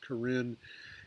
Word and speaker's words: Karen: refugee camps in Thailand the Karen that's k-a-r-e-n that pronounced Corinne ethnic minority which had